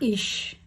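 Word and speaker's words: ich: तो first word है हमारा आई, उसको हम कहते हैं इश।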